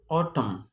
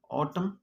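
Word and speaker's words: autumn: کله چې ان په جملې په اخره کې د ام نه وروسته راشي نه تلفظ کینی، سایلنټ خاموشه وي. اگزامپل اوټم، کنټم، کنټم. اوټم، کنټم. دې کې د اخري ان سایلنټ دی، خاموش دی،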